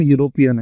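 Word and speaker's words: European: अब इसको जो पढ़ते हैं, भले ही जो बॉबल से स्टार्ट है पर इसको पढ़ते हैं हम यूरोपियन है, यूरोपियन। तो इसलिए यहाँ पे क्या आ जाएगा, यू से स्टार्ट है तो यहाँ पे आ जाएगा ए।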